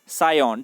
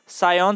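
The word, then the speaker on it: Psion: Symbian operating system was developed by सायोन। ठीक है, यहाँ पे पी साइलेंट रहता है। सायोन सॉफ्टवेयर ने इसको क्या किया था, डेवलप किया था।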